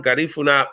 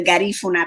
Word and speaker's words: Garifuna: pronouncing it properly Guna the accent is on the second syllable so um our people